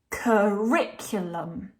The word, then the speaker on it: curriculum: this word um riculum curriculum so you can hear that the second syllable is longer and louder than the other syllables the Rick we're making